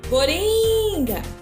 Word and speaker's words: coringa: Agora, separe as sílabas da palavra coringa e depois pinte o quadrinho da sílaba que foi pronunciada com mais força. Então, você vai separar aqui, coringa. Qual das sílabas ficou, que a gente pronunciou com um som mais forte?